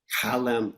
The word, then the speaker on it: Chalem: it's Hebrew, so it's actually Chalem. Halem, okay, Halem.